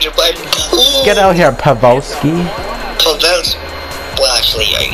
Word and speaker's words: Pavelski: Get out here, Pavelski.